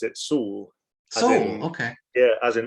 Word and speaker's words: Soule: effort you pronounce it saul okay yeah as an s double o l it's a basque name okay kind of between spain and france in the pyrenees yeah i'm glad i